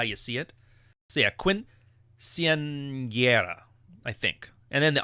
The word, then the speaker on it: quinceañera: I just remember the N with the año on top of it is like a NY. And that's how you say it.